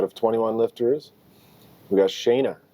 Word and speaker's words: Shayna: Out of 21 lifters, we got Shayna.